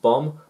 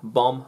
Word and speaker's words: bomb: it's the wrong spelling bomb remove the b sounds the same but wrong spelling so over time the spelling stayed the same as certain letters became silenced and not pronounced condemn bomb ballet head crumb and